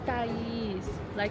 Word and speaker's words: Thaís: My name is not such It's Thaís.